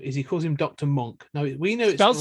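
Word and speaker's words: Munck: Monk, we leave this behind in your capable hands.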